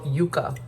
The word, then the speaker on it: yuca: to it it's go cassava in Spanish it's called Yuka but in English it's casaba it be them bites